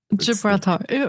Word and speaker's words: Gibraltar: We passed the Strait of Galbator. How do you pronounce that word? The Strait of. Gibraltar.